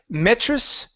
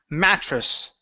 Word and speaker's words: mattress: to the word mattress instead of metc it's ma mattress mattress okay so on the